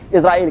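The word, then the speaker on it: Israel: इस्तेमाल करते इराल कहते व एस को व जी प्रोनाउंस करते हैं इजराइल कहते हैं और इजराइल इन ्र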